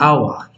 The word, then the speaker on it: hour: Even then an hour. These two words, they begins with the letter is, but when we pronounce it, this letter is silent.